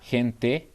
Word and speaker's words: gente: I gonna say gente, Mhm. jefe. You know, I'm using the same sound.